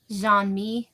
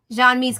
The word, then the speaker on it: Jean-Mi: I think we're gonna meet Jean-Mi, or is that his name? Am I pronouncing that right? Jean-Mi, yeah, Serac's brother.